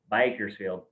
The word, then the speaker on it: Bakersfield: in a beautiful place known as bakersfield california or as us locals say bikersfield and it's pretty much